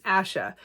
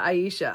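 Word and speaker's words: Ayesha: little guide inside uh the writer tells us how to say it as Asha instead of Aisha I don't know why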